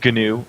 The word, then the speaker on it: GNU: not Linux yeah yeah it's gnu actually Richard stallman uh pronounces it that way all right we just